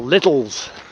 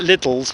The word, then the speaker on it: Lidl: Opposite Lidl, or Lidl's. Some people call it Lidl's, but I don't think you pronounce it like that. I think it's pronounced Lidl, isn't it?